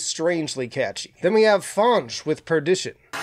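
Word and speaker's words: Fange: Then we have Fonge with Perdition. It was pointed out to me that I've been mispronouncing this band's name as Fang for a while, but these are my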